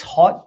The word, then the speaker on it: Haute: The 6 Haute Diva, I think that's pronounced Haute or Haute Diva, as in Terre Haute.